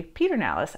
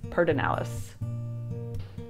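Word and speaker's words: Pedernales: I say Peter Nalis. I also say pecans. So don't say it like that. If you say it like that in Austin, everyone's gonna know that you're an outsider. So the way that you say this word is perdonalis.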